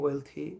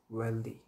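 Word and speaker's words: wealthy: Next শব্দটা হচ্ছে হেলথি, হেলথি ওয়েলথি হচ্ছে সঠিক উচ্চারণ, স্যাডলি আমরা এটাকে ছোটোবেলা থেকে শিখে এসেছি হেলদি ওয়েলদি, এই যে টিএইচের উচ্চারণটা এখানে থার মতো হবে, হেলথি ওয়েলথি, হেলথ ওয়েলথ।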